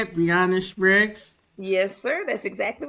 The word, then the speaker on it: Breanna Spriggs: Is that how you say it, Breanna Spriggs?